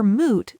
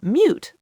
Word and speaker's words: moot: But people hear moot, they don't know what a moot is, so their brain goes, mute, like silent. The point is silent.